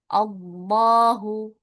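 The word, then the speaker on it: الله: Kalau lafaz Allah dibaca tafkhim atau tebal itu cara bacanya. Dah ya bukan lah tapi d Allahu huwallahu ayatullahi ya dibacanya tebal.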